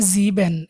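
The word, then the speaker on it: sieben: revise করব আমি একবার বলে নেই সাত হচ্ছে জিবেন এস ই এ বি এন জিবেন জিবেন মানে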